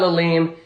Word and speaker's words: Lalime: Welcome back to the Lime Stream, everybody's favorite sour hour with your favorite host, Lalim. It's spelt Lalime.